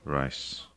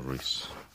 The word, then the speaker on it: Reiss: for you Appleby marchia rice a race depending how you in which language you're pronouncing it and you can buy